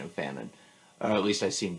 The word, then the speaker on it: Fanon: I was right about the pronunciation of Fanon, or at least I seem to be.